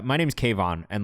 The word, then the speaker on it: Kayvan: Like, my name's Kayvan, and like the teachers that I had at school could not wrap their fucking heads around how you pronounce the name Kayvan. So I got like Kavin, Kavan, Kavanar, Kavan. So I've gotten a little bit of everything.